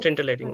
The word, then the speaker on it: scintillating: It's sin. Scintillating.